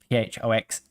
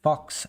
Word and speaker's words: Phox: It's just like in English ph makes the f sound. So phox is pronounced fox and my channel is festus fox.